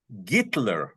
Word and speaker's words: Hitler: about until oh because that's the way it's pronounced in Russian and all the people